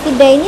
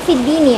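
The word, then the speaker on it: في الدين: Di sini fid daini tapi bacanya fid dini ya.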